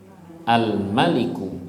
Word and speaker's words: al-Malik: Rohman Sekarang kita akan Al Malik yang tanpa Alif jadi bacanya gimana Al maliku ya artinya raja diraja